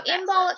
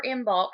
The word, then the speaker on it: Imbolc: history and things so inbox or in bulk however you wish to pronounce it um like I said just depends on where you're from how you say it and how you pronounce it and things of that